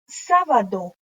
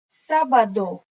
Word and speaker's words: sábado: Then we have sábado. Sábado. You have to pronounce the D. Don't say sábado.